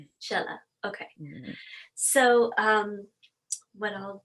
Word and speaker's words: Shehla: My first name is Shehla and my last name is Faizi. Faizi is easier because it rhymes with daisy or crazy or lazy, whichever you want to put it. But Shehla Faizi. Shehla.